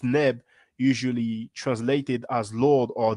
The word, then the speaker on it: Neb: And V30, pronounced Neb, usually translated as Lord or Thee.